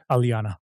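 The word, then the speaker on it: Alyana: Uh uh and uh I always mispronounce her name. Tell me again. Alana.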